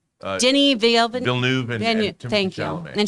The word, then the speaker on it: Villeneuve: From Matthew Medina, in 10 years, Batman Beyond with Villeneuve, I always say his name wrong. Denis Villeneuve and thank you.